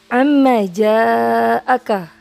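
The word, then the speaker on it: عما جاءك: Selanjutnya perhatikan kalimat lafaz yang keempat, amma ja'aka. Huruf yang berwarna biru terhukumi mad wajib muttasil. Kenapa? Karena antara mad dan hamzah bertemu dalam satu kalimat atau dalam lafaz yang sama. Dibacanya panjang 5 harakat. Amma ja'aka.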